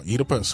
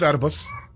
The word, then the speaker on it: Oedipus: if I could pronounce it correctly, the Oedipus complex, or Oedipus, however you want to say it. No, it's Oedipus.